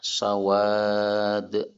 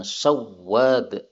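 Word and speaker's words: سواد: Namanya adalah sawad. Ismuhu sawad. Sawad ini tanpa tasdid ya, bukan sawwad. Salah syadza telah syad man syaddadahu orang yang membacanya dengan tasydid ya sebagian orang membaca sawwad salah sawad nah yang membaca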